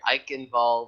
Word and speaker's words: Eichenwald: But folks, here we're gonna enter in the third map of a match here, Eichenwald, with the German pronunciation there, and I am hella excited for this.